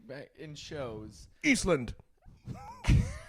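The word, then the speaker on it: Ísland: Eastland. That's how they say it. Eastland.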